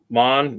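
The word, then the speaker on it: מן: manna is not a noun they most as most my assumed actually comes from the hebrew uh word man pronounced mon meaning eventually uh whatnos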